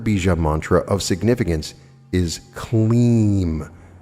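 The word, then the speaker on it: Klim: The third Bija mantra of significance is Kleem, pronounced K-L-E-E-M, spelled K-L-I-M. When chanting, you drag out the middle part like we did with Shreem.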